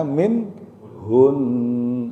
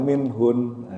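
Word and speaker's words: منهن: Bacanya min hun, tapi idghamnya tetap jangan hilang. Min hun, min hun, bacanya gitu. Nah-nya jangan dibaca alifnya, fathahnya. Dan idghamnya jangan hilang, jangan min hun. Nah, itu juga salah.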